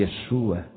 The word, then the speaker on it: Yeshua: hebraico de Jesus Cristo em Israel ninguém fala Jesus quando se referem a Jesus em Israel eles pronunciam o nome Yeshua Esse é o verdadeiro